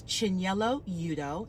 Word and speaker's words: Chinyelu Udoh: just let you all know exactly how to pronounce it my name is Chen yellow Yuto and I am a candidate for civil court